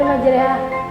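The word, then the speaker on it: مجريها: Bacanya sama seperti di Hud ayat 41 itu. Bacanya imarah, memiringkan bunyi fathah pada kasrah, sama seperti teknik memotong, agar hasilnya sempurna. Astagfirullah, iya benar Majreha.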